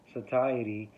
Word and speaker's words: satiety: a high fat, low carb diet also increases satiety and naturally reduces appetite.